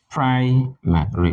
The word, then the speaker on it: primary: like primary primary right primary primary with the stress on the first syllable we are going to